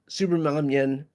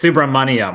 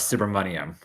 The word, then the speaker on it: Subramanyam: It's Subramanyam, like money. Suhas Subramanyam.